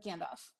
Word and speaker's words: Gandalf: Gandalf or Sam uh Gandalf okay Gandalf Gandalf Gandalf the L is not silent why would you have a silent l in English there are so there